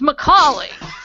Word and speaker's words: Macaulay: Oh, it's Macaulay. For Christ's sake, it's Macaulay. Why is that so hard?